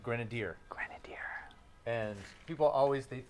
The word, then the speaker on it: Grenadier: have to remember but just think of grenadine Grenadier Grenadier and people always